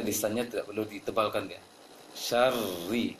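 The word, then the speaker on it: شر: Syarri, seperti baca ri dalam penglafazan lafaz huruf Latin, huruf Indonesia.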